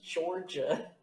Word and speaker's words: Durda: D-U-R-D-A. Hold on, let me. U-R? Yeah. Mm-hmm. D-A. That's pronounced Georgia, by the way. Georgia. I can see it if the D's are pronounced as J's.